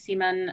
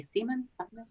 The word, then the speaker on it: Siemann: name and even though my last name is seaman um a lot of times people who don't know how to pronounce it say siemens all right so i